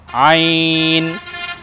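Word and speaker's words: ع: দেখুন, দুইটি বর্ণ দেখুন আমি লিখেছি, প্রথমটা হলো আইন, দ্বিতীয়টাও আইন, কিন্তু আমরা যদি উপরে একটা নুক্তা বসিয়ে দিই এটা হয়ে যাবে গইন। তাহলে প্রথমটা পেলাম আইন, একটু চেপে বলতে হবে হলকের মধ্যখান থেকে, আইন।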